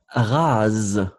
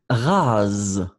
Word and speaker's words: rase: Alors, oui, ici, vous faites vraiment comme un z, z, z, z. Rase.